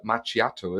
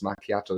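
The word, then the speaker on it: macchiato: and also I'm quite surprised because it's not machiato, is it? It's makiato as well. But no, I'm not debating how exactly it's pronounced.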